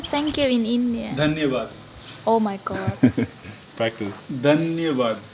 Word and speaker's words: Dhanyavad: Dhanyavad. Oh my god. Practice. Dhanyavad. Danian what? Dhanyavad. Daniel what? I can't You can say Dhanyavad. Danya? Danyawad. Right. Daniel? Dhanyavad. What? Danyawad. Yes.